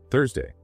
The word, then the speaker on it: Thursday: Tongue inside, sharp release. Tuesday. Tongue outside, soft air. Thursday.